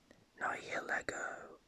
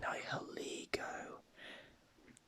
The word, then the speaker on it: Nihilego: I used to pronounce this Nihilego because for some reason I just saw Lego and I started thinking of Lego bricks. So I pronounced it Nihilego, but no, its pronunciation is actually Nihilego.